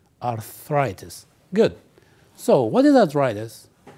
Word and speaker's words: arthritis: as you can see the word arthritis is divided into three parts R thus and the focus or the stress is On th so you say arthritis arthritis arthritis good so what is